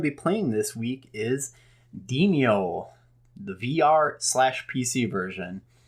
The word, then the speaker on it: Demeo: the only thing is the name is spelled d-e-m-e-o and I always want to call it demo this is just an extra e in there and it always throws me off for a second so demio is essentially best way